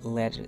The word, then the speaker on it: letter: If the T is in the middle of the word, the intonation changes the sound into a soft D, like letter sounds like ladder, water, daughter, bada, kada, lord of, gada, ladder, meeting, better.